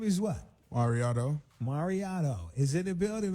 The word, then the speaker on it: MauriOtto: checking for him so your name is what Mariano Mariano is in the building man right here